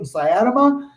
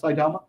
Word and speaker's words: Saitama: to buy them some sayadama then or saitama actually is what it's called saitama i'm gonna say that better three syllables saitama um then do it